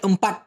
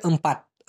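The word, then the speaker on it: empat: ছয়কে মালয়েশিয়ান ভাষায় বলা হয় এ নাম, আর চারকে বলা হয় এমপাট। এমপাট, অনেকে আমপাট বলে থাকে, আসলে উচ্চারণটা হবে এমপাট।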